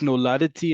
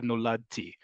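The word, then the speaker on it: נולדתי: Why is it pronounced noladati instead of noladti? Noladati is just, first off, it's easier to say because the DT in both Hebrew and in other languages isn't always a normal consonant combination, but that's also the way the song is pronounced, is sung.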